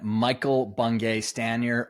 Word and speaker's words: Michael Bungay Stanier: podcast and today we do have the man Michael bungay staner or MBS to those that know him and